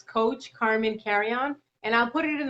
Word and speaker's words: Carrion: so it's coach carmen carry on and i'll put it in the notes as well but my spell you know my name is spelled c-a-r-r-i-o-n carmen carry-on and if you just